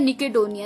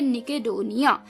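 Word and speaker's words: nikhedonia: हैं अपने अंदर तो उसे हम कहते हैं निकेटोनिया जो खुशी आई है उससे उसे हम कहते हैं निकेटोनिया स्पेलिंग में आपके लिए एक बार फिर से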